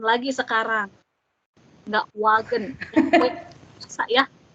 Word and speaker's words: Wagen: Ini kita nggak baca wagen lagi sekarang. Nggak wagen. Bisa ya. Tapi wagen. Wagen. Nggak ada V-nya.